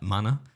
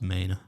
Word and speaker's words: Manor: I was calling it like manor, as in, like what Danny Dyer would call a house. Yeah. But apparently it's pronounced Maine.